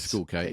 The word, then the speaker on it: Schoolkate: It's Etcheverry up against Tristan Schoolkate. I think that's how you pronounce it. Schoolkate. It is Schoolkate, yeah.